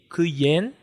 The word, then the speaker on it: kuyen: E kuyen, que significa lua, tem uma aberta, que é ku, e uma fechada, que é yen.